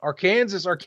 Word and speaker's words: Arkansas: All the new subs we got, they'll be like Arkansas. Again, no curtains. I said it right, but I'm not afraid to admit what could have been.